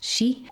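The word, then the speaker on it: 四: It's considered like 13 because the pronunciation for the word is, at least in Japanese, it's shi, and the word for death is also shi.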